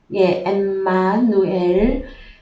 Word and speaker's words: 임마누엘: 그랬을 때에 먼저 임마누엘은 기원은 히브리어입니다. 히브리어인데 먼저 헬라어로 먼저 가보십시다. 23절에 헬라어로 원어 성경으로 가셔서 보시면 원래 발음은 엠마누엘입니다. 엠마누엘. 엠마누엘 해서요.